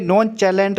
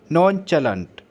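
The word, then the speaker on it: nonchalant: इसे नॉन चैलेंट मत पढ़ना, मैं भी पहले इसे नॉन चैलेंट पढ़ता था, लेकिन अब मुझे पता लगा है इसको करेक्ट, इसकी प्रोनाउंसिएशन है नॉन चैलेंट।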